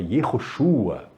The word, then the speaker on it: Yeshua: de Jesus, né, que você tem que falar o nome dele em hebraico, né, que é Yeshua. E aí tem pessoas até que tentam achar uma pronúncia mais de época, quer dizer, não era, na época não se pronunciava Yeshua, se pronunciava Yehoshua.